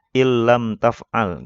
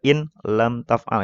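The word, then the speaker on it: إِنْ لَمْ تَفْعَلْ: Dibacanya illam taf'al ya. Jangan dibaca ini juga in lam taf'al, itu salah juga.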